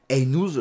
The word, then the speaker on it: Aïnouz: de du réalisateur c'est Karim einous je pense que ça se prononce comme ça réalisateur brésilien qui est